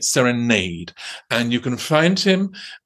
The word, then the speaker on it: Serenade: Well, as you know, the Balanchine world does pronounce it Serenade, and the Balanchine world is wrong, because the Balanchine himself, from at least the 1950s, was calling it Serenade.